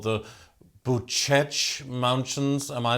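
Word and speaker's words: Bucegi: quite famous uh spiritual mythological mountains called the buchech mountains am i saying it correctly the mountains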